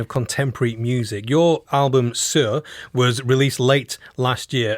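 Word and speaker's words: Saor: Sir is spelled S-A-O-R, right, Claire?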